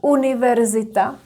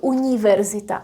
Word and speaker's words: univerzita: So these words will not be softened. For example, this one, univerzita, it's ni, pronounced as ni, not ni. It's not univerzita, it's univerzita, because it's a loan word, university.